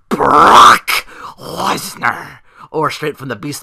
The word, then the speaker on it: Brock Lesnar: on the list of ways to pronounce Brock Lesnar's name. That's the number one, Brock Lesnar. Lil Creebo refers to him as Baroque Lesnar.